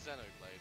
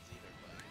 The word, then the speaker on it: Xenoblade: Let's be real, Hugh, it's Xenoblade, it's not Xenoblade.